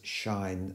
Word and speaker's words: sinh: and the function that we pronounced as shine of a X now supposing it